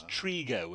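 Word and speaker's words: Trego: Sorry, Sam, but we've had confirmation from Sam Trigo that it is Trigo, and said after 25 years playing, his name is now being pronounced correctly by us too.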